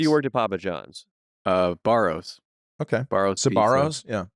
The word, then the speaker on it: Sbarro: Barrows. Okay. Barrows. Pizza. Sabaros? Yeah. Yeah. I S. S is silent.